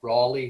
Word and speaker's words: Raleigh: my pronunciation of the i had said rally hotel apparently raleigh hotel the raleigh yes yes the role